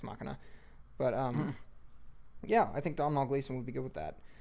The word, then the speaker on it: Domhnall: It's Domhnall.